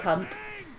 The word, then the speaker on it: Hunt: Wild Hunt. It's led by the Wild Hunt. Wild Hunt. Make sure we pronunciate the H there. Hunt.